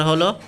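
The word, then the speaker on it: ه: তারপরে হলো হা, এটা অল্প, হা, হা, উচ্চারণটা বাতাসের মতো, হা।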